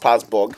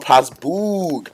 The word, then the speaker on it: Passbog: I'm just seeing Passbog everywhere, and I believe his name is pronounced Passbog and not Passboog, because like it has a whole lot of O's, right? So I thought it was Passboog.